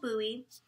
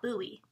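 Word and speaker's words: Bohea: tea it's called colonial buoy it doesn't look like it's pronounced buoy because it's b-o-h-e-a um and they have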